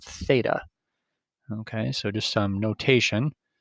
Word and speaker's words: theta: circle with a line through it it's called theta okay so just some notation that angle is pronounced theta and it's like a variable so we can